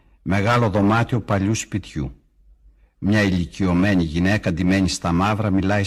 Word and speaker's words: ηλικιωμένη: Μία ηλικιωμένη γυναίκα, μία, one, ηλικιωμένη.